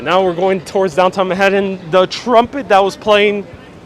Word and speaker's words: Manhattan: with w-y-a-w-k york accent it is pronounced manhattan with the short t and that's why i